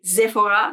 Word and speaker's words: Sephora: I know it's pronounced Sephora in English-speaking world, but I live in Belgium. I live next to France, and Sephora is actually French. And there they say Sephora, so I say Sephora.